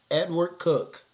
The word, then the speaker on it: Edward Coke: They got this dude named Edward Cook. It is spelled Edward Coke.